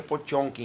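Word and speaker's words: Потёмкин: pode e potente né se pronuncia por tom que em russo é de um autor que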